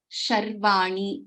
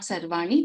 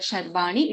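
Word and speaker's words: शर्वाणी: It is Sharvani. It is not Sarvani. If you are referring to the name of, there's a question on how to pronounce the word Sharvani.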